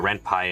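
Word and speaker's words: Ren'Py: Rempeni reimpy I like rempi I know I know it's because it's based on python so python you said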